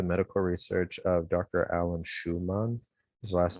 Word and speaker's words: Shewmon: Alan Schumann. His last name is spelled Shewmon.